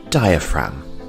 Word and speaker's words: diaphragm: have the diaphragm and the g here is silent diaphragm our next body part